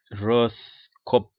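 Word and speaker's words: Rothkopf: called it could be david ross cop now david is easy to pronounce but roth r o t h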